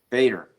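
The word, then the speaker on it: Bejder: Bader. Okay. The J is silent.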